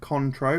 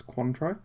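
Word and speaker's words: Cointreau: I heard a lot I hear people pronounce it contro but I think it's I think it's quantro uh designed to go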